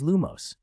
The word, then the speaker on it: Lumos: That's not how you use Lumos! 40. Which serious little badger is walking at night? Pruning spell promotion. Even though your spell is Lumos, your syllables aren't stressed right. It's Lu-mos.